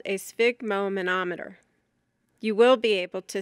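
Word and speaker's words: sphygmomanometer: Spig which rhymes with fig relates to blood. Broken into its parts. It is spig mo manometer.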